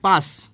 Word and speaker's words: পাশ: আমরা হচ্ছে পাশ এবং পাস বা দুইটারই উচ্চারণে অবশ্য পাস হয় পাশ পাস বলি তাহলে